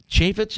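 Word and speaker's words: Chaffetz: Fox news on Sunday um you'll see him chaitz is how he pronounces it Jason chaitz damn it uh Senator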